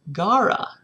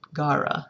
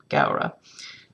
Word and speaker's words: Gaura: about that flower in the garden it is pronounced gara her partner apparently knows about flowers so she